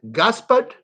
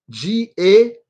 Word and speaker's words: Gaspard: the name is gaspar in english you pronounce it gaspard g-a-s-p-a-r-d gaspard and his last